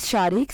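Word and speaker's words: Shariq: और unique name है the next name is शारिक spelling है एस एच ए आर आई क्यू शारिक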